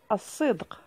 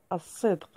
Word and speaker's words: الصدق: مثال آخر، الصدق. كذلك الكلمة معرفة بأل، ولكن فأل تنطق ولا تكتب، عفوا، ولا تنطق، الصدق.